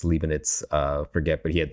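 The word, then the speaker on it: Leibniz: major long long ago I probably pronounced his name long liin it's leanit uh forget but he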